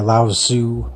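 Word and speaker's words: Laozi: would even say religion founded by laoz Sue I believe is how you pronounce the name and that was sometime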